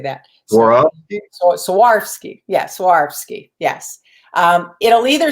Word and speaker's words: Swarovski: monet how do you say that swarovski yes swarovski yes um it'll either say swarovski on the